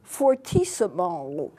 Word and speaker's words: fortissimo: still and that's called fortissimo that's the way it's pronounced it's an Italian word which means very loud